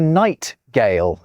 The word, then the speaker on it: nightingale: You also get it in nightingale, even though that's a g rather than a j sound. It's a nightingale.